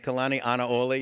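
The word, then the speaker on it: Kalanianaʻole: And I want to congratulate Representative Bachmann on her superb pronunciation of Prince Kohio's last name, Kalani Anaole.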